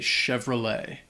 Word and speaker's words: Chevrolet: Đặc biệt là T ở cuối. Nó không được phát âm, vì vậy chúng tôi chỉ nói Chevrolet.